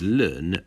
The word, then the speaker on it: ln: y equals natural log X which is normally pronounced y equals learn X that is the inverse function of the